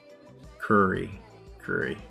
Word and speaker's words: Curry: Curry, like Steph Curry.